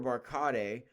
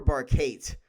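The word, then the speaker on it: Barkate: two, because they got their wide receiver, Cooper Barcade. I don't know how to pronounce his name.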